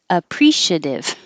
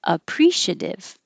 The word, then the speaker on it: appreciative: connect I appreciate it the adjective you can say two ways you can say pre or prish so with the pre I appreciate oh I'm sorry the adjective appreciate appreciative I don't say this very often I just say appreciate appreciative or with the prish appreciative so the vowel changes this one is e like he and this one is e like it so I couldn't put